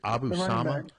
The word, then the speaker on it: Abu Sama: IA of course uh incidentally um is it pronounced s or S I think it's Abu Sama Abu Sama yes Sama Sama as you noticed